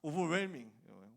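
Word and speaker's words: overwhelming: 이거 책에서 공부했는데 그래서 나는 당연히 웰밍인 줄 알았거든. 오버웰밍이더라고. 오버웰밍 묵음입니다. H는 묵음이라고 유명한 말이 있잖아.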